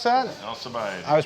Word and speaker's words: Alcibiades: Is that how you pronounce that? Alcibiades.